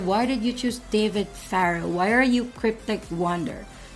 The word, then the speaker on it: Farrow: a self-indulgent thing, but Farrow phonetically is the same as like the Egyptian king, right? You know, Pharaoh.